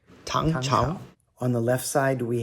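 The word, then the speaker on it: 朝: Chao, second tone, which also can be pronounced Zhao, first tone.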